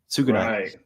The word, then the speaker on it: Tsugunai: Pronounce it. Tsugunai.